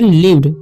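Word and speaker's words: lived: डी तो यहां पर यहां पर लाइव्ड नहीं इसे हम पढ़ेंगे लीव्ड क्या पढ़ेंगे हम लीव्ड ठीक समझ गए टू टी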